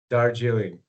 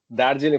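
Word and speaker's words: Darjeeling: How do you say it again? Dargiling. Dargiling. And we're going there to look at the No, no, no, no, no, no. Dariling.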